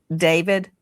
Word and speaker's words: d4vd: Some people look at his name and it looks it looks like D4 V D and he pronounces it David.